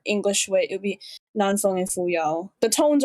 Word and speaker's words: Nan Feng: it's supposed to be Nan Feng and Fu Yao, but the video did not do that bad of a job. It's not supposed to be Nan, it's Nan, but close enough. And again, if I were